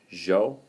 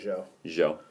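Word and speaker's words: Zhou: write the first time I say Joe but that's because I'm sure I have a hard nan Eastern accent and I can't break you but yeah I would say it's like Jo Jo but it's spelled you know zi h o u and from 10:46 to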